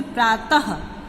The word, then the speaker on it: प्रातः: और विसर्ग का जो उच्चारण होता है वो ह की तरह होता है। जैसे प्रातः, शनैः शनैः, क्रमशः।